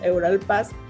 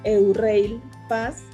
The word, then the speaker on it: Eurail Pass: Se puede comprar algo que se le llama Euralpass, que así pronunciamos nosotros aquí en México, Euralpass, y que allá lo pronuncian Eurail Pass, que es un pase que uno paga previamente y puedes pagar, tienes muchas opciones.